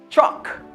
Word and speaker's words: chalk: Chalk. Il va prononcer presque ça.